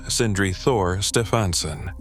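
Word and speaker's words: Sindri Þór Stefánsson: Sindri Thor Stefansson, pronounced Sindri Thor Stefansson.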